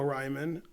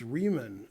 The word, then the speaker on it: Ryman: All right, thanks, Pseudo Ryman. Tricking me. All right. Pronounced Riemann. No. It's Ryman. Go Ryman.